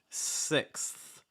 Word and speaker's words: sixth: spot um sixth sixth this is tricky because of that th so start off by just making sure you can say six okay six six against the short i sound e i make sure it's not ah it's not sex it's sixth sixth and